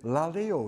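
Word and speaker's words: λαλέω: word luke uses is la leo in the greek i think i'm not no idea if that's the way to pronounce it but it's spelt l-a-l-e-o laleo i think which means chatting talking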